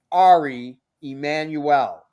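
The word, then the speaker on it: Ari Emanuel: It's Ari Emmanuel. That's his real name. Oh, okay. We don't want to mispronounce.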